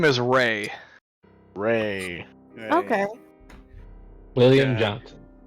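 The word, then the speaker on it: Rae: His name is Ray. Ray. Okay. William Yeah. Johnson. Ugh. No. Yeah, I It's invoke Ray, some but horrible it's spelled- memories. But it's spelled with an E. R-A-E.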